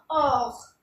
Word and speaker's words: heureux: तो H हमारा French में साइलेंट रहता है, ज़्यादातर H साइलेंट रहता है और इसको हम बोलते हैं HEUREUX। इसको बोलेंगे हम ऑफ मीन्स हैप्पी।